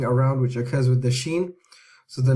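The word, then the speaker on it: ش: However, when you are pronouncing the sheen, it's a much fuller sh sound. So when you say ashhadu is different to she. She is very light, but ashhadu is fuller.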